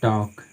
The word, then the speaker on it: talk: कहता है यदि किसी इंग्लिश वर्ड में MFKD से पहले लेटर आए, से पहले एल लेटर आए, ठीक है, तो उस स्थिति में एल लेटर हमारी साइलेंट लेटर होती है। एग्जाम्पल देखते हैं, जैसे हाफ, HALF, ठीक है, जैसे मान लीजिए टॉक, TALK, ठीक है, जैसे बाम, BALM, ठीक है।